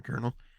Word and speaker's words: colonel: letters oh my God like colonel there's no R in kernel which doesn't make sense